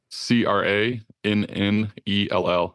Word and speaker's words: Crannell: Spell it's Ben, obviously, but spell Crannell. Yeah. Crannell. It's like flannel, but Crannell.